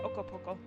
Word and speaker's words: Okopoko: And you do have to say it like that, Okopoko.